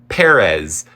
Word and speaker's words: Pérez: It should be Pérez, which sounds ridiculous in the English pronunciation.